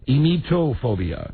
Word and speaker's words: emetophobia: This would be ametophobia. Ametophobia. Emetophobia. Emetophobia. Spell it.